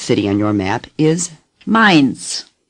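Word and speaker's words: Mainz: on your map is mines say mines AI does not occur often it is pronounced as in the English word my mind's the Z is pronounced like TS mines say mines mines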